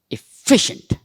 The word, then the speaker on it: efficient: where am I stressing see efficient efficient shun I'm not even saying shant shun I'm saying shent efficient and where am I